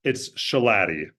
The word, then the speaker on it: Schilaty: It's Schilaty. It kind of rhymes with beef patty.